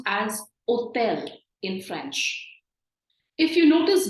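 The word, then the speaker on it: hôtel: it and O has an accent it's actually pronounced as hotel in French if you notice both the words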